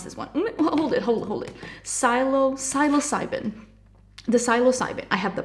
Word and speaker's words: Psilocybin: So what I'm gonna do, I also have from the, oh my god, how will you pronounce this one? Hold it. Psilocybin.